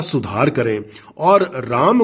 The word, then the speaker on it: राम: इसलिए अब समय आ गया है जब हम इन नामों के इंग्लिश लैंग्वेज में उच्चारण का सुधार करें और राम को राम ही कहें, कृष्ण को कृष्ण ही कहें, हनुमान को हनुमान ही कहें, लक्ष्मण को लक्ष्मण और योग को योग ही कहें।